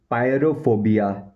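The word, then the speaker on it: pyrophobia: पायरोफोबिया, इसकी जो spelling है वो है PYRO।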